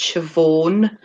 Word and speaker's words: Siobhan: cuz no sort of like saying Siobhan and to me that would be pronounced Shivaun but nobody's like that